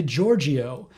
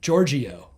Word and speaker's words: Georgiou: That's how you pronounce her name, by the way, Georgiou. Did you know that? I've never been sure, no. I've always been saying Georgiou, but I've heard her say it, Georgiou.